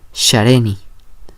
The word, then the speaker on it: shareni: Para poder pronunciarla solo hay que tomar de referencia como en el inglés cuando decimos el pronombre personal she, ella. También vamos a hacer lo mismo aquí en el otomí, es la combinación como de una S y una H.